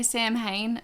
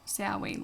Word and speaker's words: Samhain: the celts at sowing some people say samhain because that's how it's spelt but i think it's supposed to be pronounced saoi like halloween ciaoine i don't